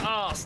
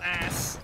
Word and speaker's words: arse: It's pronounced arse, not ass. Arse? Yes, arse with an R on it.